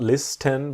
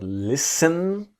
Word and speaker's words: listen: So to listen to someone or something is about to give your attention to this idea that the T is silent. It's not listen but listen to listen to me,